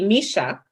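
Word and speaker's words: mai shai: can call SG4 so basically Misha um mesha is it okay they sell bread and egg and cheese okay it's pronounced meshai shy bread and egg and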